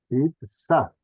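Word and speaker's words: יצחק: I- Itzhak, Isaac, I, Itzhak, I, Itzhak. Y ah, claro, Porque una una G. G, una G. Ah, Het. I- Itzhak. Itzhak, Por eso tan difícil de pronunciar y la han pasado Isaac.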